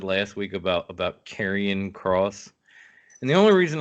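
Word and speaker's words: Charon: because in Greek mythology carrion which is spelled different but still said carrion is the the boat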